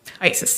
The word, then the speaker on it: IACIS: IASIS, yes.